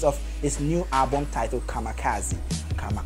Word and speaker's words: kamikaze: his latest album kamikaze I was actually pronouncing it coming Keith but a focal spot God will kill me just kamikaze you know focus but